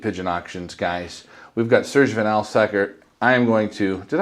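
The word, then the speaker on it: Serge Van Laer: We've got Serge Vanlaer.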